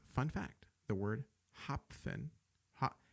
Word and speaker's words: Hopfen: It says, "Fun fact, the word Hopfen Hop It's It's What is it? Hop Hopfen? Hopfen? Hopfen?" I don't even know how How would you pronounce it? Hopfen.